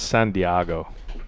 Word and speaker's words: San Diego: No, it's San Diego. San Diego? Yeah, that's how it's pronounced. It means whale's vagina. Yeah, it's Spanish.